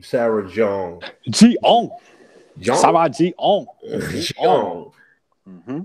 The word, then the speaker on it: Jeong: How you pronounce Sarah's name? Sarah Jeong.